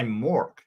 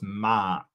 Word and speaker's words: Mark: They just say Mork. And it's like, no, it's Mark. Like a crow, like Mark.